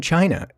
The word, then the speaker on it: Qi: yes a woman from China told me that her last name was pronounced Chi even though it's spelled Qi which didn't make any